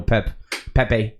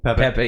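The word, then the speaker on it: Pepi: soccer right now is the emergence of Ricardo Pepe. I keep saying Pep because of like Portugal. Pepe. Yeah. Mhm. So it's spelled P-E-P-I.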